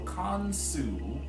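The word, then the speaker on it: Khonsu: of a divine triad, Kansu also has a U sound at the end of his name. So Kansu, Heru, we're saying that we are the divine children.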